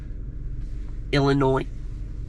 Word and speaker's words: Illinois: Illinois. You know what's annoying? People who say Illinois. You don't pronounce the S.